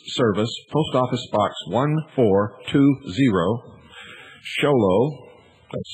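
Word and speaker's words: Show Low: Make checks or money orders out to Annie, A-N-N-I-E, and send them to the Intelligence Service, Post Office Box 1420, Sholo, that's spelled S-H-O-W-L-O-W, Arizona, 85901.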